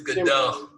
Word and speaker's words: Goodell: I said his name wrong. It's Goodell.